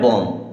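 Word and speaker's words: bomb: बी ओ एम बी अब एम के बाद में बी आया क्या एम के बाद में बी आया तो अब इसे हमें बम नहीं पढ़ना है इसे पढ़ना है बम क्या पढ़ेंगे बम इसे पढ़ेंगे बम क्योंकि एम के बाद में बी हमेशा साइलेंट होता है अब यहां पर के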